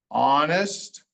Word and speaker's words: honest: So there are times when the H is silent. I just showed you one with the G. There are other times, like in these words, the H doesn't say anything. Honor, honest, hour. H is just there.